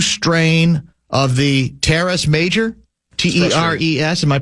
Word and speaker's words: teres: He has what's called a grade 2 strain of the teres major, T-E-R-E-S. Am I pronouncing that right?